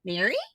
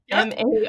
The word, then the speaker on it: Mari: By the way, it is spelled Mari. So those who read the books probably went, Mary? I texted you. It was like Maree or Mari.